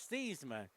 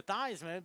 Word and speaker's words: Theismann: But when he was at Notre Dame, his original pronunciation was Theismann. And the reason they changed his pronunciation to Theismann because their sports information director at Notre Dame made him change it because he was in the running for the 1970 Heisman Trophy that won by Jim Plunkett of Stanford.